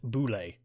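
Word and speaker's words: Bulette: land shark Oh actually but apparently is pronounced Boulet bullet I kind of like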